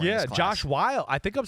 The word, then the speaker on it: Whyle: Josh Whyle. I think I'm saying it right. Wiley.